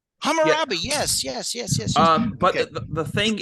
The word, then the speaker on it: Hammurabi: the book or not, but is it the Harababi? How is it pronounced?